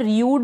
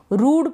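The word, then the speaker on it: rude: कुछ स्पेलिंग्स है जैसे कि ये जो है रूड, यहाँ पर रियूड नहीं पढ़ रहे, ये जो स्पेलिंग है इसको हम रूड पढ़ रहे हैं, रियूड नहीं पढ़ रहे हैं।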